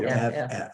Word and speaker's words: Geoff: Geoff, Yep. Jeff. Not Joffrey. no, Jeff. Jeff, Jeff. Jeff. Just Jeff. G-J-E, the O follows it, so the E is pronounced, and the FF makes Jeff.